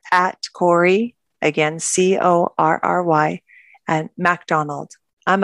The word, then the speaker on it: Corry: And Corry, it's so Canadian. We always say sorry. So it's spelt like sorry, but with a C, C-O-R-R-Y.